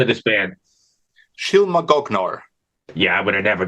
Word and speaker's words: Shylmagoghnar: Shylmagoghnar. Yeah, I would have never got that. Thank you. It's So, go ahead. Shylmagoghnar.